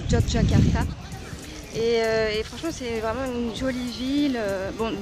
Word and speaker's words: Yogyakarta: fait cinq jours que je suis ici on prononce yogyakarta est franchement jolie ville bon depuis la dernière